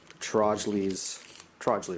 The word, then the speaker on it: Trojley: If you ever watch Trojley, right? That's how you pronounce it.